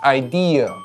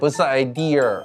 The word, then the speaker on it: idea: Idea. Not "idear" with an "r" sound. There's no "er" sound at the end. Neither British nor American English adds that sound.